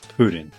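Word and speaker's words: プリン: Jigglypuff in Japanese is purin, pronounced pudding. Yep. It literally is pudding, as in a soft, jiggly dessert.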